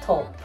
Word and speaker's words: taupe: guys i just checked it's t-a-u-p-e so it's talk it's pronounced top so let's continue and